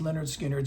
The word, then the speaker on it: Lynyrd Skynyrd: Pronounced Leonard Skard still one of their best albums.